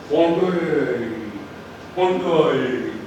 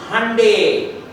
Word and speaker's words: Hyundai: So he will say hungry hungry. Then that other person will come smart Singaporean Chinese will come and say no it is hyundai. So the other fellow will say as in Sunday and then he will